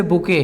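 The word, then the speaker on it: bouquet: इसके अलावा और भी बहुत सारे वर्ड्स हैं, जैसे बुके है, स्पेलिंग देख के घबरा मत जाइएगा, बुके है।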